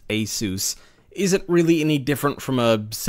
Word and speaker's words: ASUS: $200 board from Asus, yes, I know it's pronounced Asus, isn't really any different from a $700 board from MSI, save for a few minor differences.